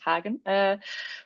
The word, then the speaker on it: Hagen: We have Hagen, which is a German name, so I can pronounce it Hagen, who as a person